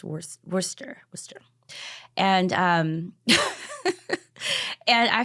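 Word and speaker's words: Worcester: say it right because you don't pronounce the r it's not Worchester it's wor Worster Worster and um and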